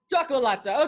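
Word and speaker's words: Cioccolata: Chocolata. Chocolata, okay.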